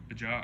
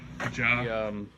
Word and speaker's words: Bajaj: Bajaj, I don't know how you say it. I think the J is silent. Bajaj.